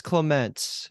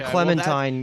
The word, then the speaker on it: Clements: Her real name is Clements with a CE. Clements. Yeah. And we call her Clementine because we didn't pronounce it right in the beginning.